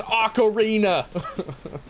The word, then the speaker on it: Ocarina: And I get on to him a little bit for it because it's Ocarina.